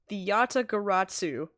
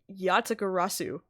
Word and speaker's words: Yatagarasu: the Yatagaratsu. I'm putting a T in there at the end. Yatagarasu. Okay. The Great Thief Yatagarasu. Interesting. Under the mark of a legendary bird, the Yatagarasu is noble to the end.